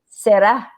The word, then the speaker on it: será: And when you say it, it has the accent on the A, like you say, and you Yes, yes. say será because you are saying like you're Yeah. pronouncing the A, será.